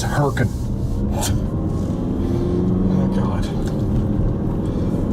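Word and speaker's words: Hurricane: It's easy, guys. Come on. Wrong. It's herkin.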